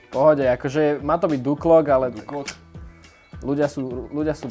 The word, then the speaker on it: Duklock: slovenských YouTuberov to som ja to som ja Či zle som to vyslovil v pohode akože Má to byť Duklock ale ľudia sú ľudia sú proste môžem nadávať